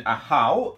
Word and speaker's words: Ahau: So to give a brief summary of the rules, in Ahau, that is how you pronounce it, I have checked the rule book,